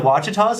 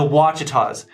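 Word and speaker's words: Ouachitas: let's pronounce it together starts with an O sounds like a w to me I don't make the rules for English I kind of wish I did but the wachitas so you might have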